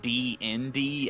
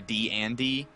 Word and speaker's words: D&D: I guess it's because I literally pronounce it D-N-D as opposed to D-and-D.